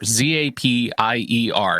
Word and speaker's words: Zapier: a tool called zapier z-a-p-i-e-r and it's it is apparently pronounced zapier because zapier makes you happier is what they say internally well that's regrettable have